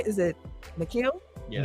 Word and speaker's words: N'Keal: Is it N'Keal? Yeah. N'Keal Harry got a high ankle sprain.